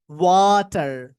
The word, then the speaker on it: water: প্রথমে ওয়াটার, ওয়াটার, ওয়াটার। American অ্যাকসেন্টে এই টি এর উচ্চারণটা আস্তে আস্তে ডিডির মতো শোনা যায়, লাইক ডিডি হয়ে যায় ধীরে ধীরে।